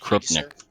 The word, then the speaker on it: Krupnik: So, just real quick, I wanted to tell you, in Polish it's pronounced Krupnik.